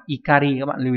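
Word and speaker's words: 怒り: Thế nhưng mà danh từ không đọc là okori mà nó lại là ikari, các bạn lưu ý nhé.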